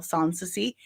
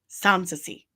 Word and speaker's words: Samsy: There's also cash app dollar sign Samsy. That's how you say my name. Samsi. It doesn't look like it. I promise you. I promise you that's how you say it and spell it.